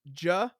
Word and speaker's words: Giacchino: He like has the pronunciation. It's Giacchino.